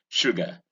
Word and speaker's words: sugar: Notice the consonant here, the sh sound, and not s. All right, I heard somebody trying to pronounce it this word saying sugar. That was very ridiculous. Now here is sugar, in cushion, in butcher, in bullet, in pullet.